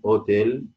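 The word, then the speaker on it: hôtel: غير منطوق، زي كلمه اوتيل. القش غير موجود، كانها مش موجوده بالظبط، تتعامل معاها كانها مش موجوده.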